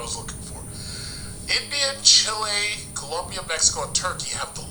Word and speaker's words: Colombia: No, I gotta pronounce it right. Colombia.